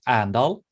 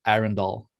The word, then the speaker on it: Arendal: is a city in norway and the locals pronounce it andal but uh like for the global market we say iron doll yeah okay i would pronounce it uh like